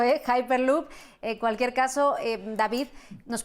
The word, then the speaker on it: Hyperloop: Yo había dicho Hyperloop, pero después de escucharte a ti, cambio la forma de pronunciarlo, Hyperloop.